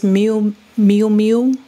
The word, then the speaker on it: Miu Miu: So she has on this Miu Miu, that's how you say it, cropped gray sweater, which is the trend we're going to be looking at.